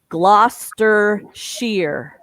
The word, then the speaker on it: Gloucestershire: The definitive British pronunciation would be Gloucestershire. Even though you see all those extra syllables, they say Gloucestershire Old Spots, plural.